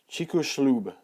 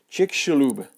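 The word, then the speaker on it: Chicxulub: CH slob or something that X is kind of like an sh sound all right so it's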